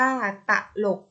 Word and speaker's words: ตลก: กนก อ่าน ว่า กนก ตลก อ่ะ อ่าน ว่า ตลก อร่อย อ่าน ว่า ว่า